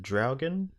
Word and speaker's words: Draugen: And the next game that you played there, how do you pronounce that? Is it Draugen? Yes, it's Draugen?